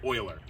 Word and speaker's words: Euler: sir Leonard Leonard Leonard Euler yeah that's actually pronounced Euler and the reason why it's called is because